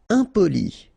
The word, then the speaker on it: impoli: Impoli. Okay, remember, I-M, and then a consonant after, so nasal, impoli.